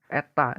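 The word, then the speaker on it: η: Nah, pada mesin Carnot itu kalau dirumuskan secara matematis, itu yang simbol seperti itu dibacanya eta ini.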